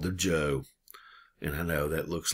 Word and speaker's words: Zhou: out of chinese and pronounce it like a j and so this is the joe dynasty the joe dynasty